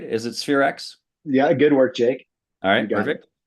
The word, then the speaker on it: Spherex: Did I pronounce that right? Is it Spherex?